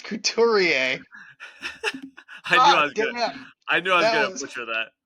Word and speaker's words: Couturier: Sean Couturier. Cootie, Sean Cooties. Incredible. That was like Craig Rive level of mispronunciation.